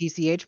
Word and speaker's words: niche: Is it actually a niche? Like Niche. NITCH pronounce? Yes, niche. Okay.